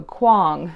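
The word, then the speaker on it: Kuang: stuck with me because she said like King Kong but with a W so Quang so RF Quang she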